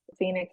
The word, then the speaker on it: Phenix: Phoenix is spelled Phenix.